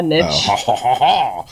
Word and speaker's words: niche: Well, niche is like the French way to say it, but you could say a niche.